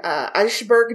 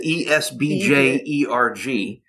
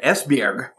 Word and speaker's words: Esbjerg: So she was born in 1913 in Eichberg, Denmark. Right. And I probably butchered that pronunciation. I apologize to that one Danish listener we have. What is it? Esbjerg.